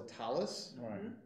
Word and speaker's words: talis: Or the other example that many people are familiar with is a prayer shawl is a talis, or talit in the Hebrew, but talis in Yiddish pronunciation.